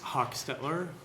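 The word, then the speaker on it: Hochstetler: afternoon senator Clemens uh my name is Hawk Stettler for the record I'll spell that last name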